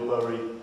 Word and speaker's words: Bury: All that stuff that we're criticised for, no doubt, in Bury or Bury, however you want to pronounce it.